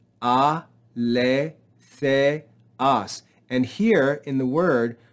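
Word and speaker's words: ἀληθείας: Notice here we have an acute accent, so it tells us to rise in pitch on this syllable.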